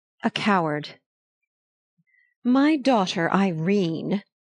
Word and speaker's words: Irene: "My daughter Irene," said Mrs. Carstyle, she made it rhyme with tureen, "has had no social advantages, but if Mr.